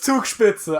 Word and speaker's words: Zugspitze: Oh, it's pronounced. Yeah, but I'm trying to throw you off. It's Zugspitze.